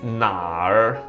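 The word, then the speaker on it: 哪儿: Well, we need to pronounce the first uh the first character na and then we uh naturally and gradually roll our tongue to end this uh word.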